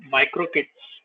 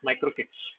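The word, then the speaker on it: MicroK8s: the other way is micro kits it's micro K8 but uh people pronounce it as micro kits so micro kits again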